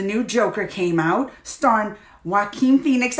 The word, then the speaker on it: Joaquin: Joker came out star Joaquin Phoenix I said it right I usually say Jolla Quinn Joaquin but I've been practicing